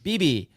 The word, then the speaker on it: Beebe: Beebe.